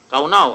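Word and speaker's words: קָנָה: Kaunaw. Ang pronunciation talaga is kaunaw.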